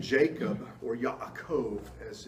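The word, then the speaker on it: יעקב: of cells in Hebrew the name Jacob or a Cove as it's pronounced in in Hebrew the name Jacob means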